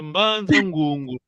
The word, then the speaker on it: Mbanza Ngongo: La bonne prononciation c'est Mbanza Ngongo, pas Mbanza Ngongo, ça c'est français.